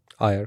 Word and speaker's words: AER: AER, correct.